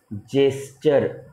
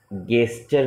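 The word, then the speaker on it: gesture: जेस्चर, गेस्चर नहीं बोलते हम, जेस्चर।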